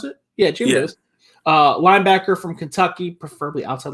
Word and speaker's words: Jamin Davis: Is that how you pronounce it? Yeah, Jamin Davis.